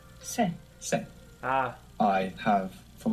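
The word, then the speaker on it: sé: Se. Se. Ah, I have. From haber is spelled H-E.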